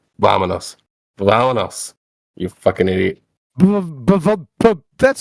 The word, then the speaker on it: vámonos: It's vámonos.